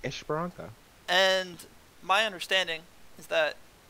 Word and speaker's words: Esperança: Well, it's Portuguese, right? It's just Esperança.